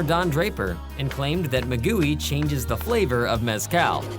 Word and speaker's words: maguey: And this little Michelin Man insect is called Gusano de Maguey, but we insist it should be pronounced Magui.